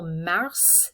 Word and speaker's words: mars: to so for example mars the s is pronounced at the end mei sounds exactly like